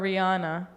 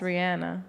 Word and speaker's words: Rihanna: or Rihanna. Yeah. It's Rihanna. It's Rihanna.